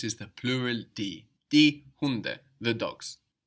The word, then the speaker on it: Hunde: And we notice also that the D is soft again, because it's not on the end of the syllable like in der Hund. Die Hunde.